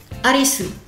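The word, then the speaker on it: アリス: Alice, le e ne se prononce pas en japonais. Du coup, on va prendre dans sa on va prendre le alisu.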